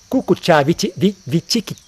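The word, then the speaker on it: kukkucca: Kukucha, Vichikicha, aquela mente kukucha, aquele pensando, aquela mente agitada, né? Kukucha, Vichikicha, eu acho que é assim que pronuncia em Pali, né?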